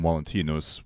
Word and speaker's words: Valentinus: Valentine, or as it would have been pronounced at the time, Valentinus, was a rather common name.